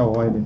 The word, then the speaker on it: Euler: A gente pronuncia Euler.